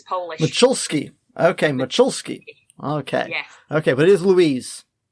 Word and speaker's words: Moczulski: there but i believe her last name is pronounced mcsulski how'd i do nearly the cut and the sir are a z make her church so it's machulski it's polish okay macholsky okay but it is louise hi hi and